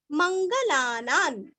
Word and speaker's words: मंगलानां: उच्चारण आधा म, यो मंगलानान, मंगल शब्द सभी को पता है और ना के ऊपर अनुस्वार का उच्चारण आधा न, क्योंकि आगे च आया हुआ है, मंगलानां च मंगलम, लास्ट